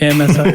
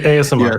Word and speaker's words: ASMR: AMSR. How do you say that? ASMR.